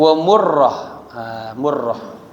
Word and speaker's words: Murrah: Murrah 6. Bidhammil mimi, berarti mimnya dikasih dhammah, mu, ya, bidhammil mimi. Wa tasdidir ra'i, mim ra, ya, ra-nya dikasih syiddah, jadi murrah cara bacanya.